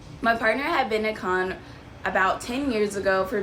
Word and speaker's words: Cannes: the next afternoon in Cannes. I think that's how you say it. I know the S is silent in French, so we woke up in Cannes, France.